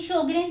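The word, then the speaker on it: Sjögren: ये स्पेलिंग ध्यान से देख लेना, ये जे है जो कि साइलेंट है, तो इसे हम बोल देते हैं शोग्रेन सिंड्रोम।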